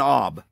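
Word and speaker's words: אוב: In the Hebrew, that's what it says. Go find a woman with an ob. And they spell it O-W-B, ob.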